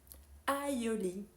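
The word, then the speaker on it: aïoli: maïs en non encore avec a I et le tréma on a haï air baonnette aoli parmi d'autres et si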